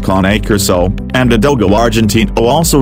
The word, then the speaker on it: Cane Corso: struggling to choose between a Cane Corso, phonetically pronounced as KAH-NAY KOR-SO, and a Dogo Argentino,